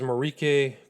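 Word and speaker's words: Marijke: My name is Marrique and I'm a victim of Jeffrey Epstein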